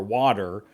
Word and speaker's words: water: And it doesn't the d the t kind of has a d pronunciation.